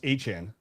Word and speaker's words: Etienne: You're telling me Devon Achane and Travis, apparently Achane, have the same pronunciation of last name despite almost polar different spellings.